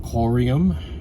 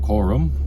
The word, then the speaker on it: Coreum: One is often pronounced Corium. I thought it was pronounced Corum. Coreum. The other one, Sologenic, which is a layer on top of the XRP ledger.